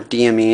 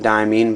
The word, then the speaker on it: Diamine: sample vial here of diamine or DME and however you want to pronounce it I call it diamine but you know take your pick marine diming marine this